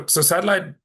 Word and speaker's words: Satlyt: Yeah, so Satlyt, so for those of you who don't know how it's spelled, it's SATLYT.